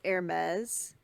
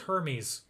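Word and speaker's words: Hermès: They're like limited edition usually, and they're made by Hermes. Jeffree Star gives them away on his channel sometimes. That's how it's pronounced. I thought it was Hermes.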